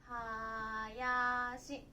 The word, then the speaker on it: 林: 読み方は林ね、木がたくさんあるとこ林ですとか、何々林